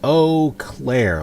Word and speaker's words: Eau Claire: looked up the pronunciation, and it's Eau Claire, like, oh Claire, how fair you are.